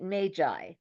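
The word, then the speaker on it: MAGAI: And it's a platform called well the person who introduced me to it called called it magi but it's spelled m a g ai and it aggregates all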